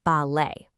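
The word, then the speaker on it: ballet: For instance, think of the word balet. You don't pronounce that t at the end.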